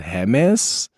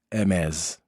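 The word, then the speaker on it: Hermès: And I hope I'm pronouncing back in correct because initially I thought is it James? Is it Hermes? But I'm told it's MS.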